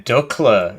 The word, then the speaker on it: Dukla: £3 and you have typo on the live stream name Dulka equals X Dukla equals O. Oh yeah, Dukla. It's Dukla Pass, not Dulka Pass. I've just been saying it wrong this whole time.